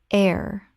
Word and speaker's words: heir: rawt rawt Word 190 heir Common mispronunciation here or hair Correct pronunciation air The h is completely silent. It sounds exactly like the word air.